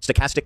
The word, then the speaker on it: stochastic: Stochastic terrorism.